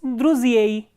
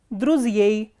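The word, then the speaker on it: друзей: In plural, it is druziei, druziei.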